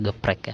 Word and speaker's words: GEPRC: ya terbang dengan geprek geprek tulisannya dibacanya geprek ya kita main fvp-an kita